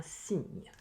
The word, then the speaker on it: cygne: rappelle, ces deux lettres, le C précédant le I ou le Y ou le E, se prononce donc un cygne.